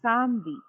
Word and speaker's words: samedi: No, not Sam. Samedi. Yeah, A is Someday. A. Yes, A is A Right. for us. Some- Samedi.